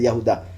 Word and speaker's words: Yahudá: Judas, obviamente, cuando se menciona así, solo se piensa en el que lo entregó a Yahushua, pero el verdadero nombre o la verdadera pronunciación es Yahudá.